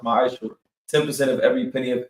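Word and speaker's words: מעשר: Means 10th in Hebrew, and is pronounced ma'ashur.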